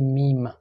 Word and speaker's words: Mim: The difference between Ahad and Ahmad is that M in English, in Farsi you say Mim. So M is pronounced as Mim.